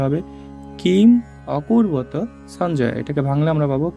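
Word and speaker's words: কিমকুর্বত: এর সাথে আমরা জানি এখানে যদি একটা হসন্ত থাকতো তাহলে এটার উচ্চারণটা কিম কূর্বত হইতো কিন্তু এখানে আমরা যেহেতু হসন্ত নাই এটার উচ্চারণটা হবে কিম অকূর্বত সঞ্জয় এটাকে ভাঙলে আমরা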